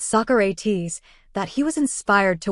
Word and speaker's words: Socrates: Jones remembered asking about one passage written by Socrates, which Jackson pronounced Socrates. Jones said after correcting him, saying, "Michael, it's Socrates," that he was inspired to work with Jackson further.